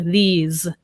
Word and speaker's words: these: But often when a word ends in E, S-E, we pronounce it like a Z, like cheese or these, right? If it just ends in S or C-E, then that's S.